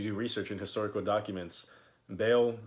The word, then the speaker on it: Baal: So when you look up the seal of Baal on Google, whatever you have, it's a complete image, a complete seal of that.